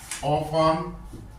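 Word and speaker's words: often: always never cell done ऑफन ओ एफ टी एन T silent है भाई ऑफन some times समटाइ्स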